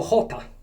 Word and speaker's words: jota: La J qua la chiamano Jota. E la Jota si pronuncia H, come se stai a scatarrà. Oppure se vogliamo dirlo in modo più carino, come quando la moca, come quando il caffè esce dalla moca, no?